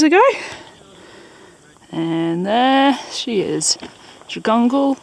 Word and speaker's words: Jagungal: And there she is, Jagungal, or Jagunal as I believe it's meant to be pronounced.